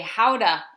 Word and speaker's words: Gouda: In the right ballpark, because Gouda is technically Gouda, right?